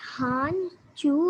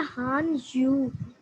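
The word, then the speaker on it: 汉语: Ma'am मैंने कहना था कि हान जू होता है या हान यू? Han Yu, जो आपने सेकंड वाली प्रोनाउंसिएशन किया ना, और इज करेक्ट।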